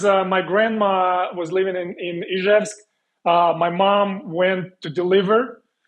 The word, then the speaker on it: Izhevsk: Correct me if I'm wrong, because I don't want to pronounce it wrong. Ishevek? The Russian city where I was born. Izhevsk. Izhev, Russia. Izhevsk. Yeah, but that's the only